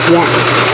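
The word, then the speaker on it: ياء: the Arabic alphabet is y y is pronounced from the middle part of the tongue and the roof of the mou when we use the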